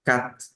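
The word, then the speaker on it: quatre: muy rápido los franceses esa t al final casi no suena es muy poco entonces van a pronunciar este número como Cat Cat en lugar de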